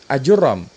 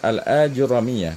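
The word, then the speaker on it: Ajurrumiyyah: yang bukan ulama Barbar tapi menetapkan ya cara bacanya bukan ajur ROM ini berarti beliau membahas kita nih ya Karena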